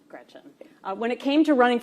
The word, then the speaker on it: Gretch: named after my grandma Gretchen, who I adore. It's funny, though, because she always said, never let anyone shorten your name. Don't let people call you Gretch because it rhymes with wretch.